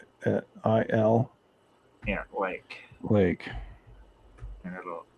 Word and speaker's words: Kurile: It's spelled just Okay. like the Coral Islands. All right. Kurile.